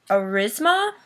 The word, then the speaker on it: Aurasma: So the piece of technology I decided to use was the, it's hard to pronounce the name of it, but it is Aurisma, so AURASMA, and it is the one I'm going to discuss.